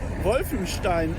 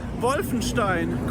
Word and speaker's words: Wolfenstein: simon live from the wolfenstein dam or in english wolfenstein damn and i just want to tell you how to pronounce wolfenstein correctly it is a very german sounding word for sure maybe that's why they